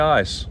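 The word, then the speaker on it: Eis: word for ice cream but they say ice but it's spelt e-i-s hey dario's got the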